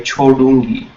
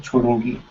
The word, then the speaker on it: छोड़ूंगी: So as you say, it's cho, duh, but there is a u here, chodungi, right? With chodu, u, and then g with e. Okay? So the duh with u, chodna, right? So chodungi.